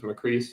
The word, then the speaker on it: Macris: Most people do Macris. It just, my father always said it was Macris, so that's how I pronounce it.